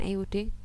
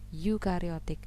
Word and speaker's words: eukariotik: Bukan euding, membacanya eukariotik.